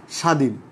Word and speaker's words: স্বাধীন: আর এখন কি বলছি, শব্দের শুরুতে বফলা যুক্ত হলে বয়ের উচ্চারণ হয় না, তবে সংযুক্ত বর্ণটি সামান্য জোর দিয়ে উচ্চারণ করতে হয়।